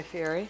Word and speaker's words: Fieri: Guy Fieri.